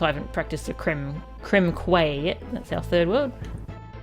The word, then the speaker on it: Quay: Quay is pronounced K, is it?